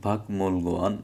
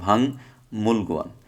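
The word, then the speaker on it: 박물관: এটা হবে কি, এই যে গিয়কের পরে মিয়ম আসার কারণে গিয়কের উচ্চারণটা অনুসার হবে। তাহলে ভাং মূল গোয়ান, এই যে ভাং মূল গোয়ান অর্থ হচ্ছে জাদুঘর।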